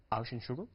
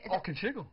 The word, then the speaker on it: Auchenshugel: Auschenschugel? Nearly, it's Auchenshugel.